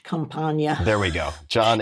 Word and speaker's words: Campagna: Campagna. There we go. John H. As he Campagna. always pointed out. He always pointed that out. Yeah, John Campagna.